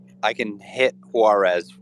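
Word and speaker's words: Juárez: like I can hit Juarez with a stone oh it's Juarez okay okay Juarez and then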